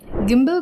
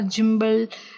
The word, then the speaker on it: gimbal: आज जो है हम लोग गिम्बल्स के बारे में जानेंगे। गिम्बल को गिम्बल कहा जाता है और जिम्बल, गिंगल ऐसा कुछ भी अलग नहीं कहना है।